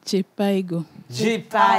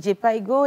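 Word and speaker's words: Jhpiego: C'est J-Piego. Moi, je l'ai lu en français, mais là, vous l'avez lu en anglais. J-Piego. J-Piego? Oui. D'accord. Donc, J-Piego et l'initiative Jeunesse Plus.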